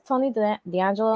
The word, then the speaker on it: Tony D'Angelo: Tony D'Angelo is that what his name is Tony D'Angelo yeah you said it right you said it